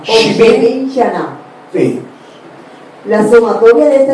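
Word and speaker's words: שבעים שנה: La expresión 70 años en hebreo es Shin Bet Men y Shin Aleph Nun Hei, y se pronuncia Shivin Shana. Shivin Shana.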